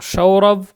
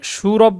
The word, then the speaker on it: সৌরভ: এখানে সুরভ তো আর বলার সুযোগ নেই, সৌরভ এভাবে উচ্চারণ করতে হবে আগে।